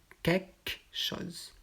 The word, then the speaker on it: quelque chose: dans quelque chose et donc on enlève le elle et le e angie queque chose fait quelque chose fait